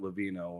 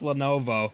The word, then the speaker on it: Lenovo: Okay, so you're just telling me for years I've been calling it Levino when it's Lenovo. Wait, you're pronouncing? Yeah, it's pronounced Lenovo.